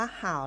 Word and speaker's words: 好: บท ที่ 1 ค่ะ คำ นี้ นะ คะ นอก จาก จะ ออก เสียง ว่า เห่า แล้ว ยัง ออก เสียง ได้ อีก แบบ นึง ค่ะ เดี๋ยว วัน นี้ เรา